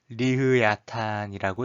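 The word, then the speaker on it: לויתן: 여기서 리워야단이라는 말은 이스라엘 사람들이 쓰는 히브리 말로 리흐야탄이라고 읽어요.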